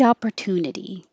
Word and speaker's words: opportunity: So just the word opportunity, the stress syllable is tune, so it won't be too much higher, but it will definitely be longer and long enough that you can hear the vowel to, ooh, tune.